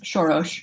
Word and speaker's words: Soros: Well, the Hungarian pronunciation is Soros, but I think he now goes by Soros just because he's been in the States for so many years.